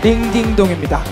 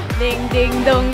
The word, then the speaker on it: 딩딩동: 딩동댕이라고 읽는 게 아니고 여러분 뭐라고요? 그쵸, 딩딩동입니다. 딩딩동, 딩딩동.